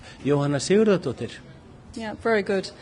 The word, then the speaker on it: Jóhanna Sigurðardóttir: How do you pronounce her name? Jóhanna Sigurðardóttir.